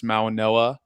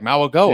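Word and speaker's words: Mauigoa: G, so I was like Mauagoa, and Yeah. it's Yeah, it's Mauanoa. it's a it's an odd pronunciation, but yeah.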